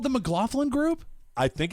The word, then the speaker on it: McLaughlin: Is This it still man- called the McLaughlin Group?